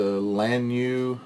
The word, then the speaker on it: Lanyu: It's a Lanyu, I guess is how you pronounce it. L-A-N-U-Y, Lanyu.